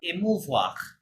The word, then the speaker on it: émouvoir: comes from the verb émouvoir.